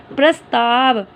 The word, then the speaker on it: प्रस्ताव: देखो प्रोनाउंसिएशन देखो, प के पैर में र है तो बन रहा है प्र आधा स ताव, प्रस्ताव।